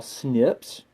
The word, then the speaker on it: SNP: these gene uniquenesses that we call snips or in the way you would spell it is like SNP and it means single